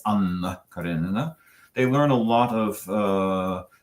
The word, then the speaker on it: Anna Karenina: And they learned from me that in the Russian language, you do something that is called in linguistics geminating, meaning if you have a double consonant, you pronounce it longer. It's not Anna Karenina, it's Anna Karenina.